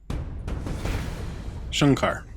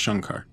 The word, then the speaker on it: Shankar: Shankar has to tell Shankar sorry people keep telling me it's Shankar I see an A I pronounce a say I thought that looked